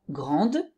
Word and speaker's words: grande: Par exemple, grand, grande. Donc, le premier, le masculin singulier, je n'entends pas le D, mais au féminin, oui, grande.